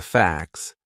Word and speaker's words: facts: Some people write I don't know but facts f a c ts. So that would be a silent t. It's in between a c and an s. Two consonant sounds. Facts. And it sounds exactly the same as f ax.